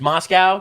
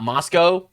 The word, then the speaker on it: Moscow: It's pronounced Moscow, not Moscow.